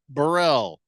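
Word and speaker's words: Beryl: throwback yeah King Ken says it's pronounced hurricane barell you mean like purel what a dumb name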